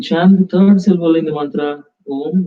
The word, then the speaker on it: Om: As you slowly connected with your deeper inner self, inhaling, exhaling, focused on the Ajna chakra, chant the mantra Om, A-U-M, Om. It's like 3-syllable. Om is a 3-syllable mantra.